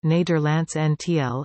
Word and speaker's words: Nederlandse Antillen: The Netherlands Antilles, Dutch, Nederlandse Antillen, pronounced Nederlands Antiel, N, listen, Papiamentu, Antia Hollands, was a constituent country of the Kingdom of the Netherlands.